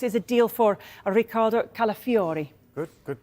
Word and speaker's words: Calafiori: Arsenal how close is a deal for Ricardo calafiori good good pronunciation that Haley look look at this 35